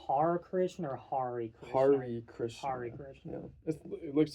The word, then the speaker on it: Hare Krishna: Hari Krishna. Hari Krishna. Yeah. It looks like it would be pronounced that way, but it's called the Hari Krishna chant is called a Maha Mantra.